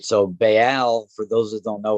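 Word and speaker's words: Ba'al: that's basically talented or ball bail right so bail for those who don't know what listen is it's spelled b a apostrophe a l this is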